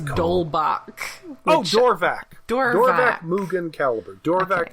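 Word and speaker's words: Dorvack: Dorvac is the show. Or at least that's how I pronounce it.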